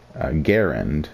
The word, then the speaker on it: Garand: cannot lie now um there is a major argument on how to actually pronounce Grand or Garand what is it uh the designer of this rifle John C Gant pronounces it as Garand I think I say